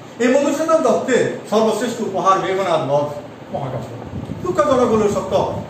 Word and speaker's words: মেঘনাদ: সেখানে আমাদের শিক্ষক উচ্চারণ করতেছেন বিভীষণের প্রতি মেঘনাদ। আসলে উচ্চারণটা আমার কাছে সঠিক মনে হয়, উচ্চারণটা হবে বিভীষণের প্রতি মেঘনাদ।